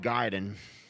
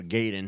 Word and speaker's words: Gaiden: shut down thing and ninja gaiden or gaydon however you want to pronounce it one of those games